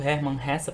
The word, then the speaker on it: Hermann Hesse: o Herman hessa e eu estou falando Herman hessa porque eu procurei saber o como se pronunciava o nome desse autor uma vez que ele é Alemão então da mesma forma que o Fredy nicha é a gente não pronuncia de forma aportuguesada ou mesmo americanizada retornando a Clarice ela